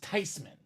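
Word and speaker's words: Theismann: these men it's not tyman it should be pronounced tysman German name Joe tyman for Tyler Thompson nice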